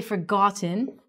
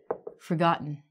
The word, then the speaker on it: forgotten: We don't say forgotten, we say forgotten.